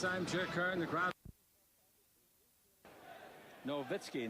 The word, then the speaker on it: Nowitzki: Nowitzki. Now, that W is all right, but it's pronounced Vitsky. Leitner in the middle.